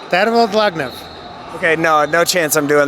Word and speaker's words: Tervel Dlagnev: Tervel Dlagnev.